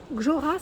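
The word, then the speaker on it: GJÖRA: Alors, cadre de lit, c'est Gjora, ça se prononce.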